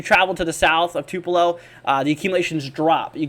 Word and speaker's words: Tupelo: including the Tupelo region I learned it's actually Tupelo in my live stream I had a hard time pronouncing this region but I finally think I got it down uh but Tupelo 1